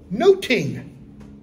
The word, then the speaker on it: nothing: say nothing my Lord nothing in Shakespeare's day is pronounced like noting like I'm noting this I'm noting that okay I say no